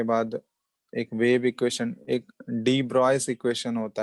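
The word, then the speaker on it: de Broglie: हाँ, वो डी ब्रॉगली नहीं, वो लिखा जाता है बट इट is pronounced as डी ब्रॉय।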